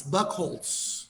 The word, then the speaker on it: Buchholz: i pronounce it right it's buckholz buckholds just like i thought okay perfect so